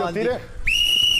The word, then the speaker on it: Van Dijk: Y el nombre Van Dijk, Dijk. Es como se pronuncia, ¿verdad?